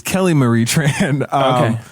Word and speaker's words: Kelly Marie Tran: It's Kelly Marie Tran.